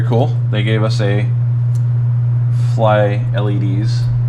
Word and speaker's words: FLYLEDS: they gave us a fly LEDs keychain or fly leads as they pronounce it massive heat sink